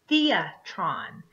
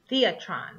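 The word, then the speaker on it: θέατρον: taking so theater comes from the Greek word Theatron Theatron which is spelled th EA t ro n the atrani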